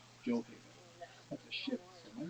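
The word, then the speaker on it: Gjoa Haven: This is because there is a Joe Haven, which is what the locals say today use the J sound, Joe Haven.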